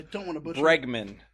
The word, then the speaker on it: Bregman: Bregman. Not to be confused with Bergman or Burgerman, as Jack of all nerds would say.